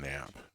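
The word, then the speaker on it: knap: There's a silent K on nap. K-N-A-P.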